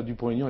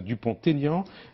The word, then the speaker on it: Dupont-Aignan: Donc bonjour Nicolas Dupont-Aignan et pas Nicolas Dupont-Aignan.